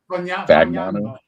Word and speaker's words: Fagnano: Oh, Fagnano. Fagnano. No, it's silent G.